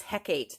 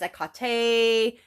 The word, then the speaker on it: Hecate: you say her name when I first came across her name I was pretty young in my teens maybe 20 and I thought it was Hecate that's what I seen h e c a t heck that's how I pronounced it um I've always had phonics issues anyway in the Greek it is a Kate um but he heate